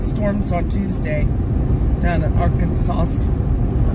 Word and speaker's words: Arkansas: But yeah, we know the S is silent. I'm We just are trying to be funny pronouncing thing. I know it's Arkansas.